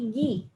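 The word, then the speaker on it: ぎ: Nah ini kalau kita beri dakuteng, maka cara bacanya jadi gi. Jadi dari ki ke gi.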